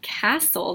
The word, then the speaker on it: castle: pull so like tussles so like castle that tricks a lot of students because they want to say the T sound tol like bottle and